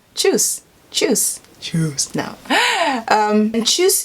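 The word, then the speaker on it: Tschüss: juice yeah that's how i would say it choose choose choose choose now and choose is one of those words which is spelt with a german letter i can't remember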